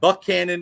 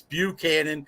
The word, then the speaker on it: Buchanan: cozy it's not cozies it's not Buck Cannon it's Buchanan it's not Staunton it's